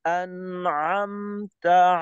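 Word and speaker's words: أنعمت: আমার বলতে হবে আন আম অতিরিক্ত আওয়াজকে স্থান দেওয়া যাবে না আন আম আন আম এই পরিচ্ছন্ন দুইটা আওয়াজকে একসাথে যুক্ত করতে হবে আনআম আনআম এরকম আবার দেখি সিরাতাল্লাজিনা আনআমতা আলাইহিমনা আলাইহিম আলাইহিম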